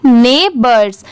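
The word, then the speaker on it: neighbors: NEIGH ने, BORS बर्स, इसकी sound bourse नहीं आएगा, BORS, इसके वजह से BO की वजह से बोर नहीं पढ़ेंगे, बर्ड्स की साउंड आ रही है।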